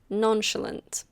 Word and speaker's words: nonchalant: Nonchalant. It comes from French, but we pronounce it a bit differently.